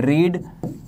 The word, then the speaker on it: read: तो इस वजह से ध्यान रखना, पहली फॉर्म रीड होती है, सेकंड फॉर्म रेड होती है, थर्ड फॉर्म भी रेड होती है, लेकिन स्पेलिंग चेंज नहीं होती है।